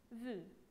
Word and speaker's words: vue: longue où l'on veut on ne prononce pas le e alors on dit l'an vue alors on tourne la